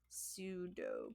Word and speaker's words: pseudo: prep again it's super pseudo code so the p is silent in that word yeah uh so it's